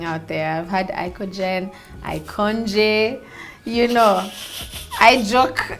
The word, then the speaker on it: IKOJN: it around you get icon and then the j is silent so it's supposed to